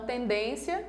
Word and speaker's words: tendência: Na palavra tendência, eu tenho 1, 2, 3 sílabas. A mais forte é a penúltima. Então, ela é uma palavra paroxítona, que termina em ditongo. Então, tendência está certo, tá?